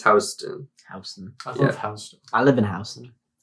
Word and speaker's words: Houston: it is yeah it is and it's not pronounced Houston it's Houston yeah I live in Houston I live in